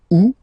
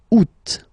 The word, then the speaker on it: août: And then here, two options because, well, two options are acceptable in French. The first one, you don't pronounce the final T. Ou. Second one, you pronounce it août.